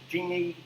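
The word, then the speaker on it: Gini: and our genie coefficient now i pronounce it genie you can call it however you like all right um i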